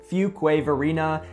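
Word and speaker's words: Fuquay-Varina: Last in C tier is going to be Fugquway Verina. And if you're just pronouncing it for the first time, you might have got it wrong.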